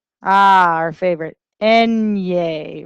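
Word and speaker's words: eñe: Enye. Remember, think Three Stooges. Enye. Repite. Enye. This is that nya sound.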